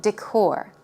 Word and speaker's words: decor: style houses Korean style decor decor stress goes on the second syllable decor decor wooden floor